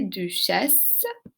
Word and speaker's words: duchesses: Remarquez, j'ai pas prononcé le S. Now notice I did not pronounce that in the end. And that's because most times consonants at the end of a French word are mute.